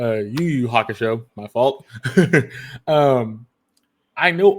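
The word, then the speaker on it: Yu Yu Hakusho: I'm saying it wrong I said it wrong I said yo-yo it's actually a YuYu Haka show my fault um I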